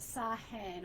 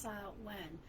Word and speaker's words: Samhain: Or in the Celtic tradition, Samhain, and it's not Samhain or whatever. It's pronounced Samhain. My Irish partner corrected me on that because I was pronouncing it wrong.